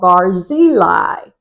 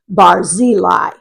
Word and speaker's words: Barzillai: be familiar with and he's a man called barili I usually say barili but I did check and it's supposed to be pronounced bareli so either way I say it you'll know